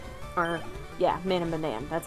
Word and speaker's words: Man of Medan: It's called Man of Medan. Or, yeah, Man of Medan.